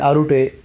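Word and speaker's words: Arte: Ascendance of a Bookworm and Arute, yeah, that's how you pronounce that name, will both air on 4th of April.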